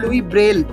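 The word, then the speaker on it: Louis Braille: লুই এটা ফরাসি নাম, আমরা উচ্চারণ করব লুই ব্রেল।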